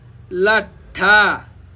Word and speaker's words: लट्ठा: अब बेग्ला बेग्लै यसको उच्चारण गर्नुहोस्। लट्टा, फेरि भन्नुहोस् त लट्टा हो। त्यस्तै गरिकन भन्नुहोस् लट्ठा, फेरि भन्नुहोस् लट्ठा हो।